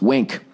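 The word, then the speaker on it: Wnc: here um all right wink pronounced wink it's w n c all right finding a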